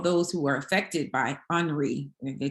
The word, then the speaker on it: Henri: They told me I can't say Henry, even though that's, mama named him Henry. I'm going to call him Henry, but it says Henri is the way that we're supposed to pronounce it.